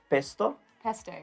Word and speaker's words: pesto: right yep so yeah we pronounce a bit different pesto pesto yup but yeah it's